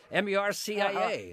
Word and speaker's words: Murcia: M-U-R-C-I-A. Uh-huh. That's not the way it's pronounced.